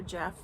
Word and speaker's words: Geoff: And then he has um Jeff Straight Talking and it's spelled G E O FF Explore with Jeff. and he has not been posting lately for months now.